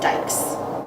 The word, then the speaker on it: dikes: to harden the jaws the slang name is dice kind of a portmanteau pronounced dikes especially in the electrical